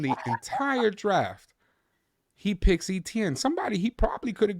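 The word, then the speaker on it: Etienne: Running back, how do you pronounce his last name? ETN. ETN.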